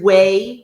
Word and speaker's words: whey: like next Tuesday so there's way which is spelled w y way not like w a y way out or anything like that way casian c